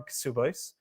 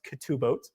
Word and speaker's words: Ketubot: So the primary source of this that's talked about is the Gemara in Kesubos, or sometimes pronounced Ketubot, right? The way that you would pronounce it.